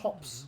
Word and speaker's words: Thops: Presumably Tops. interested. Interesting. I always pronounced it Thops, because that's, I read it how I see it.